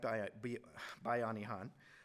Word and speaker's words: Bayanihan: Pronounced like Bayanihan.